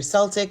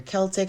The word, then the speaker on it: Celtic: That is for your, it's either Celtic or your Celtic, however you want to pronounce it, cross, okay?